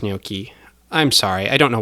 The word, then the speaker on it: gnocchi: "It's pronounced gnocchi.